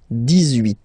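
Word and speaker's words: dix-huit: So you will make this little link between the two, the liaison. 18, 18, 18.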